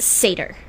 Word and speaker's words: satyr: It's pronounced satyr.